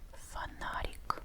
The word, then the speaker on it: фонарик: Fanatic. Funic. Fanatic is a flashlight. A is the stressed syllable. That was not tight again. Fanatic. So, this O sounds a bit like short week.